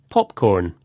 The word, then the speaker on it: popcorn: With compound nouns, the stress usually goes on the first part, like this. Popcorn, ice cream, keyboard.